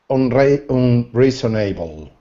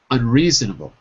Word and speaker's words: unreasonable: The opposite is unreasonable. Okay. Okay, but listen to my pronunciation here. Yeah. Unreasonable.